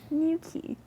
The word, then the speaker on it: Newquay: Do you know how to spell it? Newquay. New key.